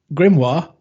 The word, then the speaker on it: Grimoire: Um, I've been playing, you might have to help me with pronunciation here. Grim Groves or Grimoya Groves. Grimmori Groves. Grimoire.